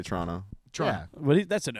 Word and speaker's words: Toronto: I don't say the second T. I say Toronto.